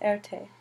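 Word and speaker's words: Erté: to be known as Erte which is the sound made from his initials R and T pronounced a and t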